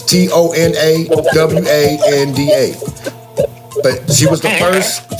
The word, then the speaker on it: Tonawanda: I'm sorry if I butchered her name. Jackie Tonawanda. It's Tonawanda.